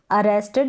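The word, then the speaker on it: arrested: या पकड़ा गया अरेस्टेड यहां पर ये जो लास्ट में टिड करके यानी इड का साउंड पूरा आ रहा है इस इड को आप बोलेंगे प्रोनाउंस करेंगे इसका उच्चारण होगा इंग्लिश में काफी सारी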